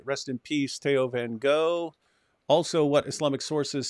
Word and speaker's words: Theo van Gogh: It's just the pronunciation is Theo van Gogh.